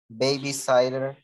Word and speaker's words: babysitter: Solo acuérdense, baby sitter. Entonces tiene dos T's enfrente de la I. Entonces va a ser sitter, baby sitter, ¿verdad? Ese sitter es como sit, ¿verdad?